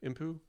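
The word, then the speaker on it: Emppu: Impu?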